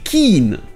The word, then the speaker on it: keen: On aura aussi Ken et Keen.